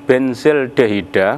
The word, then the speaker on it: benzaldehida: Yang kedua, akan terpecah menjadi 1 jenis benzaldehida, bacanya benzaldehid.